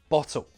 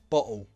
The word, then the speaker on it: bottle: First, true T. Mountain, button, bottle, water, hotel, better. Now the glottal T. Mountain, button, bottle, water, hotel, better.